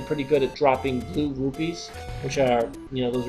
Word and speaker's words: rupee: some rues and it's it's pronounced R it's rupe not rubies Al when I was a kid I call I always call them rubies but they're actually rupes so if I if